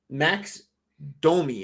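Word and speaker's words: Max Domi: unsung heroes that came to play yeah um max domey am i saying that right you're saying it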